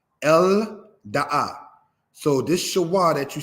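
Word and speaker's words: אֶלְדָּעָה: The aleph is mute. Lamed makes what sound? The L sound. El Da'a.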